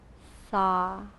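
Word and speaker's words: sah: a m hum and every exhale repeat the syllable saw s-a-h gentle natural hum as you inhale and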